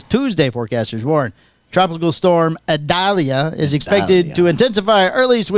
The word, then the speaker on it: Idalia: All right, the big news in Florida: tropical storm Adalia. How do you say that one? Paco. Oh, Get your adjuster Tropical out. storm expected to intensify. It's actually Idalia.